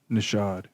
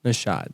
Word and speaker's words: Naushad: me safe my guy how do you say your last name nashad nashad save nashad and i've known you